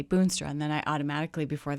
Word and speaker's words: Boonstra: Boonstra.